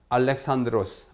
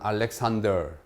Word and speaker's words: 알렉산드로스: 제국의 제국을 참 건설한 알렉산드로스 흔히 말하 알렉산더 알렉산더도에 영어를 우리 식으로 읽은 것이기 때문에 요즘 교과서에는 알렉산드로스 아고 헬라 발음 그대로 비슷하게 적고 있습니다 그래서 알렉산드로스 아고 얘기합니다이